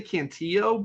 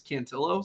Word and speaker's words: Cantillo: always throws me because I I want to say cantio but I've heard him pronouncing it's cantillo so kind of throws